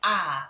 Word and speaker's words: R: Don't call it R anymore. R is a wrong pronunciation. You say ah.